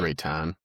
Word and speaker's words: Reiten: Christopher Reiten or Reeton. How do you say it? Rayton.